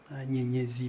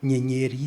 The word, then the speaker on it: Nyenyezi: D'ailleurs, Eva a prononcé mon nom en Kinyarwanda. Nyenyezi, parce que si vous dites Nyenyeri, c'est la même chose, ça veut dire étoile, mais c'est en Kinyarwanda. Avec Z, c'est en Machi.